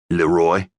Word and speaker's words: Loy: "Loy," he said, accenting the second syllable of his name.